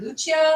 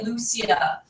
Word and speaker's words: Lucia: Lucia I speak you or he pronounces it more without the the I sounds so it's more Lucia Lucia okay that makes more